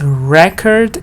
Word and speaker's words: record: So here stress is on the first part, yes, this part that is written in capital letters, record.